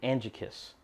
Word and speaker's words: Angekis: same all right folks so I stand corrected if I mispronounce the name it is actually Angie kiss that's the brand that's